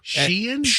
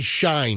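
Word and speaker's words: Shein: Sheen. It's S. A lot of people say Shine. Yeah. But it's actually sheen. It's s e i n. But it it's pronounced sheen, but people call it shine.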